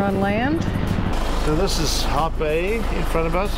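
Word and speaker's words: Hout Bay: So this is Hot Bay in front of us. Hot Bay is spelled H-O-U-T, which means wood.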